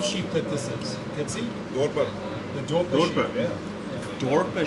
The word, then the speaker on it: Dorper: Dorper. The Dorper sheep. Yeah. Dorper sheep. I don't know why I said it like I'm not from South Africa. It's always the accent on the Afrikaans that gets Dorper.